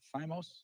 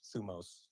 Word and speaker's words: thumos: Is it thymos? Thumos. Thumos. Yes. Thumos. Megalothumia. Megalothumia. What is it? Megalothumia. Thumos. Okay, this is a very important concept. Thumos.